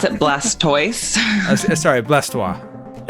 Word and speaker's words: Blastoise: You pronounce it Blastoise? Sorry, Blastoise.